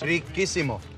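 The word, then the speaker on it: riquísimo: Riquissimo.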